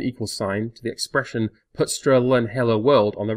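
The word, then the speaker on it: putStrLn: double quote characters thus this declaration can be pronounced as main is put sterlin hello world semantically speaking this program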